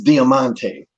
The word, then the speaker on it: Diamante: And so we called Conan over and I said, she needs to know how to pronounce her name. And Conan goes, "It's Diamante."